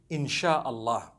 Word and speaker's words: insya Allah: If you look at, the Malay language, they write insya Allah, the SYA. They pronounce the SY the way we pronounce SH.